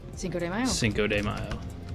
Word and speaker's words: Cinco de Mayo: I'm gonna say Cinco de Mayo. Cinco de Mayo. Right? That's how you spell it. Cinco de Mayo. Don't say mayo, Dan. Cinco de Mayo.